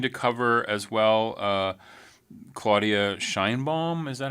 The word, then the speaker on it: Sheinbaum: Are you going to cover as well Claudia Sheinbaum? Is that how you say her name? That's how we say it in the U.S. Sheinbaum would be the Mexican pronunciation.